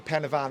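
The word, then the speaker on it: Pen y Fan: you're doing uh excuse my lack of Welsh pronunciation here but you're you're climing climbing Pavan Pavan is that is that correct yes so um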